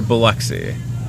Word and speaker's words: Biloxi: Are you near Biloxi? And you pronounced that correctly.